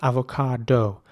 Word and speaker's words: avocado: And again, just like with apricot, you have to pronounce the C with a K sound. So it's avocado.